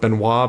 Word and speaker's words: Benoit: I'm saying Ben anoint I'm a well aware it's supposed to be pronounced Benoit but he actually pronounces a monoid so I'm gonna support him and go with binoy he is plus 110